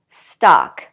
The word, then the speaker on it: stalk: kind of strange way so again with these forget about the L we don't say it at all the vowel is ah ah and we say talk chalk walk stalk okay I have one